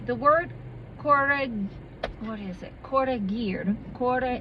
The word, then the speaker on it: corregir: Corregir. It's C-O-R-R-E-G-I-R. Corregir is, and you're supposed to roll your R's like this. But hell no, I can't even do that in the middle of the word.